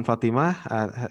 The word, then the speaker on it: Fatimah: Dalam pengucapan Fatimah, hati-hati yang panjang itu fa-nya ya. Kadang-kadang orang kita itu yang panjang to-nya.